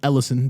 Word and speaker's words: Ellison: Yo, my whole life I've been calling bro Hellison. His name is Ellison. The H is silent.